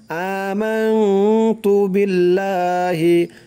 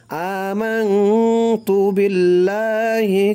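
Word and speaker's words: آمَنْتُ بِاللّٰهِ: ইমানে মুজমাল হচ্ছে আমানতু, আ এক আলিফ টান দিতে হবে, আমানতু বিল্লাহি, বিল্লাহ লা এক আলিফ টান দিতে হবে, আমানতু বিল্লাহি। এখানে দেখুন আল্লাহ শব্দটা কিন্তু লা উচ্চারণ হবে, কারণ হচ্ছে আল্লাহ শব্দের পূর্বে জের, এখানে পেশও নাই জবরও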